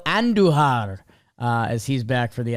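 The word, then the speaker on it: Andújar: Roll your R's with Miguel Andujar as he's back for the Athletics.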